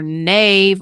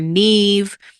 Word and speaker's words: Neve: I know there's a lot of conversation about how to spell or how to pronounce her name, whether it's Nev or Nave or Neve. It is Nev.